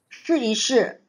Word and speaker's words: 试一试: Okay, everybody improve on the 试一试，试一试。That is the way how you pronounce.